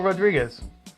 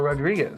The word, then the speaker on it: Rodriguez: That's right, which was written by Joe Hill and illustrated by Gabriel Rodriguez. Rodriguez. Woohoo! I can't. You should roll your R's.